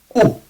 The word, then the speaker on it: ου: The sound U exists in Greek, but the letter U does not. This is like, it's not U. Like, U has kind of a nasal feeling to it. U. It's like U. It's very throat based.